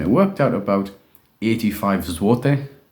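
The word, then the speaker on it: złoty: worked out about 85 zwote um it spelled zloty but apparently pronounces which is the Polish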